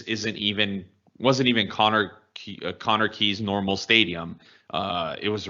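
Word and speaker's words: Connah's Quay: where alaska took on conor key's nomads that's not quay which how i previously pronounced it and the last episode that we were discussing this i'm not sure how q-u-a-y makes the key pronunciation but whatever um after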